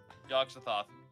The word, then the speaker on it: Yogg-Sothoth: Yogg-Sothoth. Yep. You're not wrong. This is exactly how it's said. All right. It's pronounced as it is spelt.